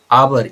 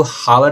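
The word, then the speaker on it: hour: चलिए आ जाइए question number seven में हिज आवर लेट तो फिर से यहां पे एन आवर इसको हावर नहीं पढ़ना आवर होता है।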